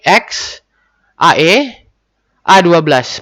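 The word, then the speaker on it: X Æ A-12: Beliau memiliki anak ke-6 ya pada bulan Mei 2020 yang dinamai X AE A12 Musk. X berarti pelafalan diucapkan sebagai huruf X, AE yang dibaca Ash, dan A12 untuk pesawat Archangel 2012.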